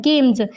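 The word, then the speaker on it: games: तो first word meaning आता है गेम्स। तो यहाँ पे जो एस है ना, इसकी साउंड ज की है, मीन्स ज के नीचे एक बिंदी जिसको बोलते हैं ज।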